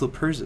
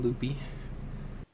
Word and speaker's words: Luperza: So, as always, we have our splendid co-host, whose name I can pronounce, and her name is Luperza. So how you doing, Loopy?